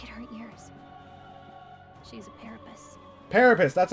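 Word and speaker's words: Paripus: She's a parapus. Parapus. That's how you pronounce it.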